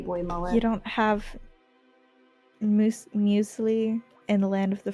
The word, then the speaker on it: muesli: If I tried to pronounce it, it would just come out as muscle. Oh, I would have pronounced it muesli.